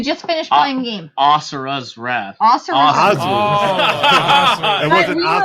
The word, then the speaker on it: Asura: because Scott's been playing a game that he pronounced wrong, or you just finished playing a game. Asura's Wrath. Asura's Wrath. It wasn't Asura? Were like Asura's Wrath. I was saying, I was saying Azura.